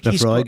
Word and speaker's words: Laphroaig: Uh Laphroaig? Is that how you pronounce it? Laphroaig? I think. Laphroaig, yeah.